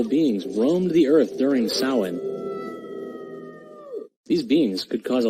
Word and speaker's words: Samhain: It was called Samhain. Yeah, I know, it's spelled differently than how it's pronounced.